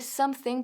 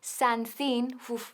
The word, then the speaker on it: something: Ahora, cuidado con la pronunciación de something porque no es something, suena fatal y es un error que cometen muchos alumnos. Hay que cerrar los labios y decir something.